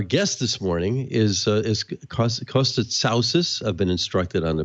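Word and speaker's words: Costa Tsaousis: TV and our guest this morning is as Costco stood souces I've been instructed on the pronunciation of his name he's the CEO of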